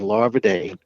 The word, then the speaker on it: Larvadain: oh lava day yeah larva dang yes ma'am spell it l-a-r v as in victor a e a i n larva dane yeah my my my people are from assumption